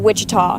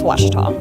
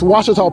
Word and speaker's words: Ouachita: Back in Texas, everybody pronounces it Wichita, but really, it's Ouachita. Ouachita. Ouachita. How would you pronounce it? Ouachita. Ouachita. It's Ouachita Baptist University. Get it right. It's Ouachita, people.